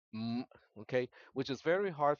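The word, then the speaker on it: 五: pronunciation it is called m okay which is very hard for uh non-speakers to pronounce so for the most part it is an m followed by an ng consonant um but that's basically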